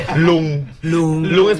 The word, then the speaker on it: ลุง: Lung.